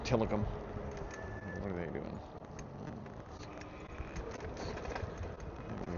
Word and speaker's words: Tillicum: And yeah, it's called Till I Come. Well, that's how it's spelled, Till I Come. But it's pronounced Tillicum.